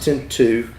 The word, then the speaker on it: Tinto: Pura oh wow uh tinu spelled Tinto pronounced tinu uh from the Dow